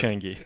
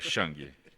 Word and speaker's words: Chang: Pronunciei corretamente, doutor? Quase corretamente, Quase. Chang. É Chang. Chang.